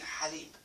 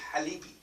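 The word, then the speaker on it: حليب: And when I started with my daughter, I used to call it halibi. Halibi? Yeah, so she actually presses on the ha. Because she used to go like, Halibi. Daddy, I want halibi. No, it's halibi. Ha. Halibi. Halib. Halib, yes.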